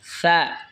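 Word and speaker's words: ثاء: তা জিহ্বার আগা সামনের ওপরের দুই দাঁতের গোড়ার সঙ্গে লাগা উচ্চারণ হবে তা। তা এরপর এটা হলো সা। সা জিহ্বার আগা সামনের ওপরের দুই দাঁতের আগার সঙ্গে লাগা উচ্চারণ হবে সা, নরম হবে সা।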